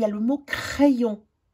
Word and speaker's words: crayon: Puis ensuite, il y a le mot crayon. Le Y qui se sépare en deux, le I qui se prononce avec le A, ça fait « est ».